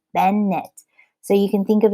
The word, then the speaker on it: Bennett: way to remember it with bennett fracture you have two syllables ben knit so you can think